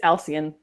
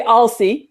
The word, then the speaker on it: Elian: and it's it's it's Elian Elan you can say you can say Alie if you want to but either way it's still the accent is on the first syllable all right then I